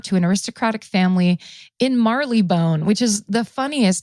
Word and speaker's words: Marylebone: So John Bingham, during World War II, when he was a boy, he was evacuated out of London, out of Marylebone. They're gonna be like, it's pronounced Millibin.